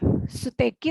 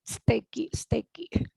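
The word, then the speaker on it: 素敵: Suteki tapi diucapkannya steki. Mirip su-nya tuh bukan suteki tapi steki. Agak disatukan.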